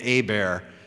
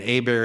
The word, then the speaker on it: Hebert: is Louisiana French and a bear is pronounce where the H is silent and the E's pronounced like an A and the ERT is like Stephen Colbert you know looks like Kolbert so a bear is